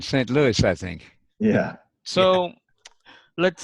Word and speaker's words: St. Louis: tea yeah Louis yeah pronounced with an S on the end st. Louis I think yeah so